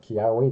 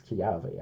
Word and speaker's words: Kiawe: Yeah, it's not Kiawe, it's Kiave, actually, from the pronunciation, guys.